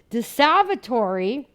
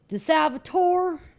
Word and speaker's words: De Salvatore: De Salvatore, I actually learned pronouncing in Italy, because in Ohio, where I come from, when people had roll call, it kind of sounded like this. De Salvatore.